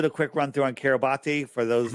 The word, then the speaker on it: Kiribati: So I'll do the quick run through on Kiribati for those, and it's pronounced Kiribati, but I say Kiribati because that's how it was spelled.